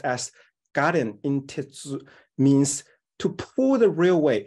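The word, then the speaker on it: 我田引鉄: In Japanese, the word is pronounced as garen in tetsu, means to pull the railway into my electoral strong base.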